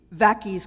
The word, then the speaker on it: Vaccies: to stereotype that nasty graffiti vacus go home as anyone who lives in lived in britain in the 1970s or 80s knows it rhymes ominously with pakis go home which is a common